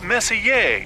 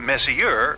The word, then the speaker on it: Messier: Pronounced Messier, not Messier, as in, is your room messier than mine?